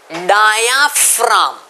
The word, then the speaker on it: diaphragm: Partition को कहते हैं डायाफ्राम. स्टूडेंट्स बहुत ध्यान से प्रोनाउंस करेंगे. Dia simple, डायाफ, डायाफ, राम, RAGM. Okay, इसको रागम नहीं बोलेंगे, डायाफ रागम नहीं है, डायाफ, डायाफ राम, RAGM को बोलेंगे राम, डायाफ्राम.